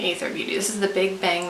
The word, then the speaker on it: Aether Beauty: and this is the, it used to be A-E-T-H-E-R, but then they dropped the E's. But I think people were already confused about how to pronounce it then. So is it whatever. I'm saying Aether Beauty.